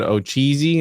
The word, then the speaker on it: Ocheesee: And so, for those that don't know, Stacy, can you tell us the tale about the wild man of, you said Ocheesee?